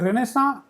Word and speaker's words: Renaissance: तर रेनेसा म्हणजे rebirth French शब्द, आणि रेनेसाचा उच्चार बघा तुम्ही कसा आहे, तो फ्रेंच शब्द असल्यामुळे उच्चार तसा आहे. स्पेलिंग वेगळं, उच्चार वेगळं, हे फ्रेंचांचं वैशिष्ट्य आहे.